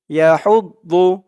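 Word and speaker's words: يَحُضُّ: হুদ দদ পেশ দু, ইয়া হুদ দু, ইয়া হুদ দু, একেবারে ইয়া হুদ দু, দু বলা যাবে না, দু বললে দদের জায়গায় দালের উচ্চারণটা চলে আসবে।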